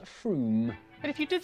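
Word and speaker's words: Frome: on your train from wrong it's not from f-r-o-m-e it should be blitheringly obvious it's pronounced froome and if you did say from don't worry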